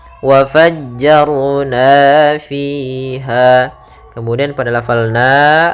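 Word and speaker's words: وفجرنا: RO di sini tebal Jangan dibaca waajjarna tapi wafajjar Ar wafajjarna fiha Kemudian pada lafal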